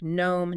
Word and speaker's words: gnome: Or words starting with y like gnome, knack, sign. That g is typically silent.